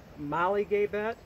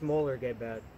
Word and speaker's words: Mollegabet: molar gay bad bone some people pronounce it Molly gay bet or just call him Molly's but I had a person that actually speaks the language say it's molar Gabe ed okay before I get